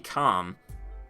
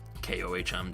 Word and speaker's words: Kohm: the sobec and the Comm kohm depending on how you like to pronounce it comb whatever those two weapons fire